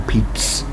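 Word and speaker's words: Pepys: Another, is it pronounced Pepe? I suppose here it would be Peep. Or Peeps, P-E-P-Y-S, but I suppose it is Pepe, isn't it?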